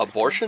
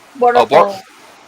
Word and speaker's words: Boruto: Abortion? No. Boruto. Oh, I mispronounced it.